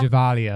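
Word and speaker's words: Gevalia: I already forgot how to pronounce it. Giovanni. I think we looked it up. Givalia. Givalia, that's it.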